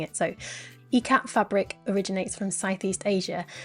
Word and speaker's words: ikat: and I decided I should double check the pronunciation ecat and I'm glad did or I would still have been pronouncing it IAT just like I would read that so um